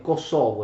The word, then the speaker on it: Kosovo: Polie significa piana, pianura, quindi Kosovo Polie in Kosovo significa piana del Kosovo, ma anche piana dei merli, scusate, Kosovo è l'accento corretto, perché Kosovo significa merlo, d'accordo?